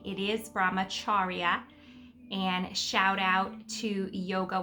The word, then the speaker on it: Brahmacharya: So first of all, Brahmacharya, which I was pronouncing incorrectly, Brahmacharya, which I do hear a lot of people say. It is Brahmacharya.